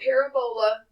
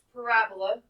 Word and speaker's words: parabola: to describe a quadratic starts with a P Parabola not Parabola it's pronounced Parabola we've already learned this if a is positive